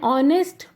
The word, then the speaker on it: honest: An honest person never betrays anyone. Honest. Though the word starts with H, but when we pronounce it starts with a, O.